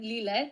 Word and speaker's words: Lile: So hi guys, I'm Lel. This is my name and surname. Lel, that's how it's pronounced.